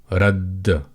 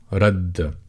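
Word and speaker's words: ردّ: on the top of it to give you an indication that underneath this grammatical case or diacritic, you've got two letters of the same. So radd, radd. And when you see it, you just pronounce that letter twice or make it a little bit more emphatic. So you'd say radd, radd, radd.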